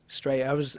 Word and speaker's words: Straya: They call it Straya, S-T-R-Y-A, Straya.